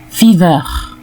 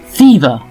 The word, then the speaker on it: fever: Les mots finissant par ER, comme fever, together, les francophones auront tendance à les prononcer fever, together, en insistant sur le ER à la fin, et surtout le R. Plutôt, prononcez désormais ces mots ainsi: fever, together, fever, together.